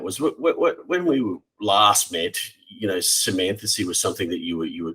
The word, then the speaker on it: Symmathesy: So the word Symmathacy, it's spelled Symmathesy, comes from the Latin words sim, together, and mathacy, learning.